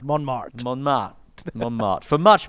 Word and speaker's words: Montmartre: Not bad. Montmartre, it is, Montmartre.